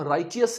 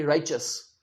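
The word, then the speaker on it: righteous: तो इस शब्द को हम राइटियस नहीं कहेंगे। राइटस कहेंगे राइचस।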